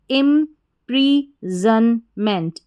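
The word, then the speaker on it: imprisonment: IM पढ़ा इम, फिर है PRISON, तो PRI को प्री पढ़ेंगे और SON को जन करके पढ़ेंगे, सन नहीं पढ़ेंगे, जन, ठीक है।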